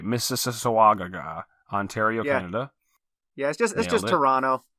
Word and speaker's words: Mississauga: then in March 13 to 15th we've got Misha Waga even missus uh-uh Ontario Canada I'm confident I said it right Mississauga Ontario Canada yes just Toronto it's just an